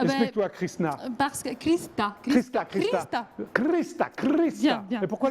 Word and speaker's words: Hrista: Parce que Krista. Krista. Bien, bien. Et pourquoi le H ne se prononce pas?